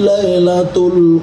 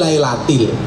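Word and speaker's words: لَيْلَةِ: Inna anzalnahu fi lailatul qadr. Kan salah. Yang kan harusnya jar majrur fi lailatil.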